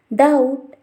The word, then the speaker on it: doubt: If we see the next condition, before the letter T, the B will not pronounced and supposed to be silent. Let's see some of the examples: doubt, subtle, dead, etc.